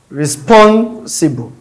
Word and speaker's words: responsible: Responsible. So it is on the second syllable stress.